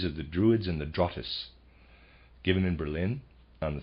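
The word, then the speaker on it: Drotts: Europe emanated from a mother Lodge in Scandinavia drus logic and that's readers aside that's spelled D R O TT s I am pronouncing that drus and of readers aside Druids equals Oak for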